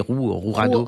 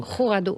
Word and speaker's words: Jurado: Donc je crois que le J, on dit Rourado. Rourado, voilà, pas mal.